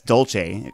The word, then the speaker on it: Dolce: As far as I know, that's Dolce. Correct me if I'm wrong. I mean, in Spanish, that's Dolce, yeah. Thank you.